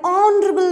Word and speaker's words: honorable: h and are an honorable man here also the letter h is silent and honor and honor